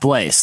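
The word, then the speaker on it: Blaise: Like, however you spell it, it's pronounced Blaze.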